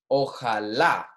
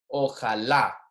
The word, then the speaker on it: Ojalá: Ojalá. Notice that the word with the accent mark here, the pronunciation is on the accent, the last syllable there. Ojalá.